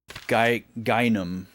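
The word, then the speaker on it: Gaignun: Gynum. But it's spelled like gagnum gynum kukai.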